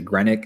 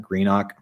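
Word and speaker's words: Greenock: You're going to get mad at me for how I pronounce this because I'm sure I'm saying it wrong. Like, Morton, is it Grenic? Is it Is it Grenic or something like that? Grenok.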